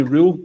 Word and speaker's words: Röhl: I'm looking for your initial reaction when Danny Rule, as we've been told to pronounce it, when Danny Rule was a house rangers man.